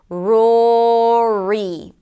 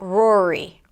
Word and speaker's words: Rory: One of the things that happens when we have an R, and then another vowel and an R is that we tend to keep the tongue up, and then the entire word sounds muffled, like 'rory', 'rory'.